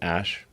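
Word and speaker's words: Æ: It's like pronounced Ash.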